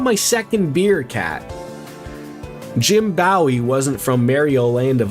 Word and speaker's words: Bowie: But the place was likely named after Jim Bowie, which was pronounced like the knife.